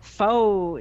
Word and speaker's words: faux: i mean you know faux news i was thinking about that today faux news f-a-u-x pronounced foe well it's foe news isn't it it's it's faux news